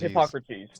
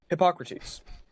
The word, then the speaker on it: Hippocrates: Hippocrates. There, Hippocrates. Just think of Socrates, but Hippo. Hippocrates.